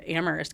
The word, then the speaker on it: Amherst: that you said was Amhurst is really a town known for conversation and for a place where dialogue begins and Where only the H is silent.